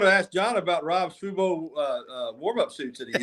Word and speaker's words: Fubo: But how did you pronounce it again, John? Did you call it Fobu or what would you say? What was the pronunciation? Fu Fubo is the TV thing.